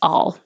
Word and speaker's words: I'll: a grocery store aisle it can reduce to just all I'll be back all all instead of ale so sometimes I have